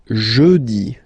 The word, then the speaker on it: jeudi: Jeudi. Remember, when you combine this u, you get the sound jeudi, jeudi. So I insist a little bit, so make it softer.